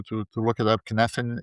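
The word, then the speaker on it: Cynefin: Kneffen is spelled C Y N E F I N.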